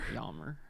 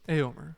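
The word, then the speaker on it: Éomer: Eomer. It's Eomer. It's Eomer. Since he has the accent on the E.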